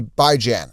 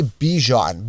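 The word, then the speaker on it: Bijan: first overall well some candidates could easily be by Jan and say well Joe you're not pronouncing it right by is in by weekly Jan is in ran by Jan people say bejan be e g j o n it makes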